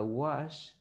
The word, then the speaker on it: wash: Porque no es lo mismo que usted diga wash a que usted diga watch. Entonces no me puede decir I watch TV, porque si me dice I watch TV, yo me lo imagino lavando el televisor.